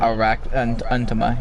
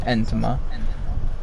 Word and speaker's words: Entoma: Intoma, that's her name. Untoma, yeah. That's how they say it in both the dub and sub. Entoma. It's like entomatology.